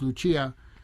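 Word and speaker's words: Lucía: I love Paco de Lucia, and also, well, it's actually pronounced Lucia.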